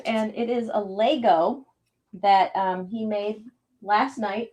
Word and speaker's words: Lego: It sounds like you say Lego. I did say Lego. It's not a Laygo. No. How do you spell it? It. But Lego is Lego.